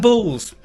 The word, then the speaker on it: boules: Bulls. Bulls. Not bull, but bulls. B-O-U-L-E-S. Bulls.